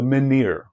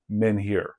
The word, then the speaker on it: menhir: Maybe the most iconic megalithic structure is the individual standing stone, which we call in English the menhir, or sometimes it's pronounced menhir.